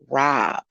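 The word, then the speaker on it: Robb: of the elementary school is rob or to take so that's what you know even though it's spelled with two b's um you know it was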